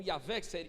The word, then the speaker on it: Yahvé: Traduzido por Javé e depois Jeová, mas no hebraico não havia letra J, então Yahvé é a pronúncia, né, que acredita-se ser a mais popular, né, que mais acredita